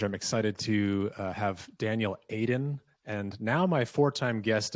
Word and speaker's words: Eidan: Is your name pronounced Eidan or Eidan? Both are equally wrong, but equally okay. What's correct? The first one is good. The first one's good. Eidan is good.